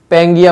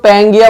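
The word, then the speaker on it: Pangaea: तो इन्होंने इसका नाम क्या दिया, इन्होंने इसको बोला पेंगिया, बोला इसको पेंगिया, PANGEA, ये स्पेलिंग GAE, इन्होंने इसको पेंगिया बोला, ठीक है।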